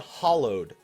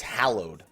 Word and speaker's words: hallowed: thing I do it's not hollowed ground like like a hollow like like a piece of like a like a a wall being hollow it's Hallowed Ground And I do the